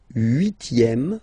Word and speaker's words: huitième: Le huitième, remember H doesn't exist. Huitième, huitième, la huitième.